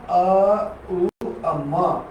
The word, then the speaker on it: ओम: म जो ऊर्जा को रखे हुए है यानी ओम का तीसरा खंड ओम का तीसरा खंड उच्चारण ज्यादातर लोग सही नहीं करते हैं। हमेशा अ उ अ म आ इस प्रकार से करेंगे तब ये तीनों